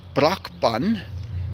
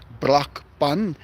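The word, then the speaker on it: Brakpan: I live in a town called Braun. B R A K P A N. That's how you spell it. Braun.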